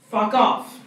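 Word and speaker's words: Phucof: Pronounced Fuck Off.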